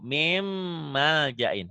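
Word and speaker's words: مِن مَّلْجَإٍ: Atau kalau ada seperti ini nih di Quran, min maljain. Setiap huruf mati bertemu huruf bertasydid, huruf matinya diapain? Apa itu? Dileburkan. Atau N-nya diapain? Dihilangkan. Dihilangkan. Jadi bacanya dari sini ke sini tuh. Mim maljain.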